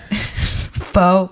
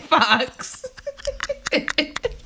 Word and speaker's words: faux: you're gonna crack up I learned that foe is pronounced faux not Fox foreign because I'm pronouncing things